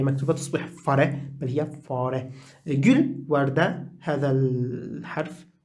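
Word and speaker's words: fare: طيب درس دي درس درس، اي اف اي اف بيت، في فاره في فاره فاره. تحدثنا في درس سابق أن الآ فيها مد قليلا لأنه مأخوذ من العربية، فلا نقول فره بل نقول فاره، ليست فاره.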